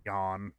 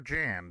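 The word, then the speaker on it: Jann: appears it was mistaken John John or Jan depending on how you want to pronounce it again I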